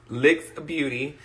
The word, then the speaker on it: Lick X Beauty: so thank you friend my small business is called lick x beauty pronounced licks beauty and i wanted to